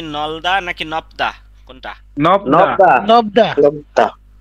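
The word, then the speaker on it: 넓다: না না না নাই নাই, নলদা হবে। নাই নাই। হবে নলদা। নলদা। বুঝছেন? জি, জি, বিয়োগ নাই। থাকলে এই প্রথমটার উচ্চারণ হবে না, আর বাকি যত জোড়া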